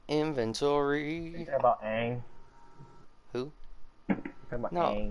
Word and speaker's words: Aang: Okay, that's how us cool people pronounce it. Aang. Yeah, Ong.